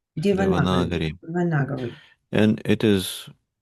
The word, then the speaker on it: Devanagari: Yeah, it's pronounced Devanagari. Devanagari, Devanagari.